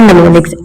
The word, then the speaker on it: mnemonics: ये वर्ड है mnemonics. M is silent in this mnemonics.